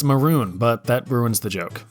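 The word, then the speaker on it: Mörön: Sadly, it's pronounced maroon, but that ruins the joke.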